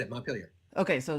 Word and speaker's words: Montpelier: Like, how do you pronounce that? Like you just said it, Montpelier.